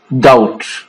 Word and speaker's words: doubt: So here in this word, B is not pronounced. It means that it is silent. It is pronounced as doubt.